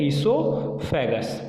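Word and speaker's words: oesophagus: Clear, यहाँ पे ओ silent है, इसको प्रोनाउंस करते हैं ईसोफेगस।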